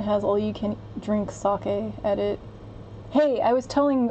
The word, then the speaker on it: sake: on pronunciation I think older Americans tend to say sake not sure why like their Saki Saki Saki Saki Saki a pronounced sake not softened it it's sake is the thing that you drink